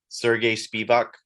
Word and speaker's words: Sergey Spivac: Sergey Spivac.